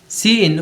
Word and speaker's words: cin: साथ होता है, और CIN जो है हम लोग के साथ प्रोनाउंस होता है सी इन, और ये हम लोग